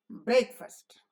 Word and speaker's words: breakfast: car goes very fast but when you say breakfast you don't say fast you say first why because this is the accented syllable and this is the unaccented syllable break is accented syllable and this is the unaccented syllable so it should be shortened in both duration and loudness and we say breakfast breakfast because the accent falls on break and the unaccented syllable